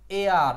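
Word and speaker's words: heir: the king left dash এয়ার এই উচ্চারণটার উচ্চারণটা কিন্তু এয়ার হ্যাঁ এটার উচ্চারণ হচ্ছে এ আর এটার উচ্চারণ হচ্ছে এয়ার the king left dash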